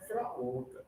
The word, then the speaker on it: orca: We have a single O, but the sound is the same as floor. Orca and floor.